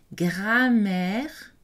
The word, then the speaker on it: grammaire: Écoutez, grammaire, le M est prononcé, la voyelle est orale.